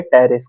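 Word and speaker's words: Pteris: एंटम किसका मेंबर है टेरेस का ठीक है टेरेस नहीं मतलब आप लोग इसम P silent hat टेरेस match the following अब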